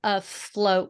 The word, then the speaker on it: afloat: of our life yeah try a float one more time break it into two syllables uh not a for